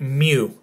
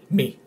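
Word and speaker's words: μι: And at the end, we're gonna have a test, a few Greek words in which you're gonna try and pronounce them properly, with me explaining at the end how to properly pronounce them.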